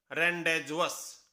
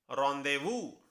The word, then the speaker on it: rendezvous: हम इसे क्या पढ़ते? रेंडेजुअस, लेकिन इसकी सही प्रोनाउंसिएशन है रॉन्देवू, रॉन्देवू, और जिसका मीनिंग होता